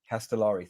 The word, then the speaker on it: Castellari: Castellari.